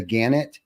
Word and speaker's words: Gannett: it was born and I'm probably going to pronounce this the Gannett company.